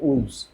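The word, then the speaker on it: wolves: এস লাইভ বোঝা গেল উলফ ডব্লিউ ও এল এফ শেষে এফ আছে উলফস ডব্লিউ ও এল ভি এস উলফ বলা হলেও তাই আমাদের উচ্চারণটা চেঞ্জ হয়ে যাবে উলভস লাইভস রাইট তো এই যে চেঞ্জ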